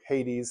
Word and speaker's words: Hades: The rich man at the end of chapter 16 here, he didn't wind up in Hades, or Hades, how Americans pronounce it.